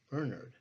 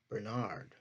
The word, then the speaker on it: Bernard: This pronunciation is significant because my father and his family pronounced his name Bernard, as opposed to the more common Bernard.